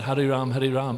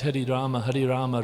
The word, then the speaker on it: Hari Rama: So it's not Hari Ram, it's Hari Rama, Rama Rama, Hari Hari.